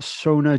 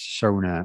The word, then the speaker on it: Sonor: all can you confirm the correct way to pronounce sona or sono i don't know because i hear so many different versions yeah uh well we we always say so no because you know like the german way um if and i've